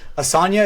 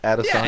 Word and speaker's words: Adesanya: Asanya, is that his name? Asanya? Oh, you're talking Izzy? Adesanya.